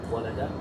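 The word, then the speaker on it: ولد: What if walad was a verb? How would we pronounce it? Walada.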